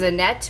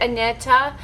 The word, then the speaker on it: Annetta: neck does makeup corner everybody just has a net but she actually pronounces it Annetta so I'm gonna try to be that good girl in pronounce her name properly Annetta I've been watching